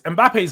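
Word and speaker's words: Mbappé: Mbappe's highs are so much higher than Isak's size.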